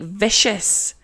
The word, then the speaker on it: vicious: comes from victim, but instead of having that hard k sound, it's not vicus. We're gonna add the I, and that's gonna soften the C to make vicious. And it completely changes the sound of the C from a soft C to a sh sound.